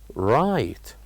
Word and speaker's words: right: a word which is the word right right so the word